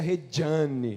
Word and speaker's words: Regiane: Aliás, pode chamar de Regiane, mas ele se pronuncia Regiane, né?